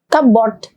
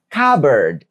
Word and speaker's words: cupboard: Gimana cara bacanya? Cboard. Nah, umumnya seperti itu tapi ternyata pelafalannya adalah cupboard.